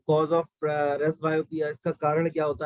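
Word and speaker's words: presbyopia: यहाँ पे जो पी होता है वो साइलेंट होता है, ठीक है, रेस बायोपिया बोला जाता है इसको।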